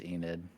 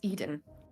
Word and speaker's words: Eden: at this couple oh so you keep getting my name wrong it's Eden oh I apologize I